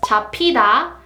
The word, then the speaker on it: 잡히다: The first one is 잡히다, 잡히다, 잡히다. And it means to be grabbed or to be caught. 잡히다.